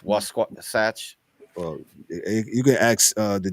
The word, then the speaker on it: Wasatch: wrong, but the Utah it's almost like Sasquatch. Wasatch.